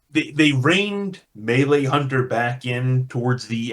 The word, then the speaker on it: melee: And I feel like they found a nice balance with the melee introduction that they've tried to do. Okay. On the melee thing, sorry, melee, I should say. I pronounce it differently to you guys.